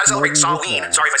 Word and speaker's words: Samhain: Sorry if I say Sam Hain and people go, it's Samhain. I heard it in Halloween too, if anyone has ever seen it, and Loomis says Sam Hain, so that's what I thought it was, and it's spelled the same way.